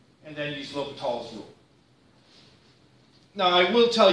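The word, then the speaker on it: L'Hôpital: And if you have to look it up, it's spelled two different ways. L apostrophe hospital or L apostrophe hospital without the S. In both cases, it's pronounced L'Hopital. It's one man.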